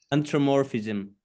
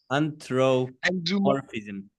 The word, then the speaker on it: anthropomorphism: Oh, can you please pronounce that word, Prabhu? Anthropomorphism. No, yo, I don't have it in my tongue. Hey. Anthropomorphism.